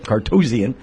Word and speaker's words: Cartozian: Cartozian.